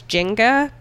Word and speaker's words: Nzinga: And I saw different pronunciations. One was Jinga, but that just makes me think of Jenga. Yeah. And most of what I saw was Nzinga.